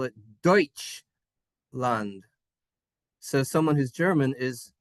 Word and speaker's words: Deutschland: Deutschland, Deutschland. That's how you say Germany. We say Germany, but if you want to say Germany in English, or in German rather, they call it Deutschland.